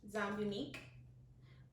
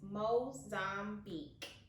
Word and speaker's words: Mozambique: Go in with the Zambique. I don't even think that's how you say it. It's Mozambique. Mozambique.